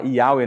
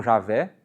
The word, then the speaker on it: Yahweh: Então, aqui vai ser, o I vai fazer o som do J, por isso que a gente fala Yahweh, não Javé, mas G, aqui é um